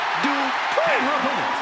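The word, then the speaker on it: Dupri: Uh, Michael, it's pronounced Dri.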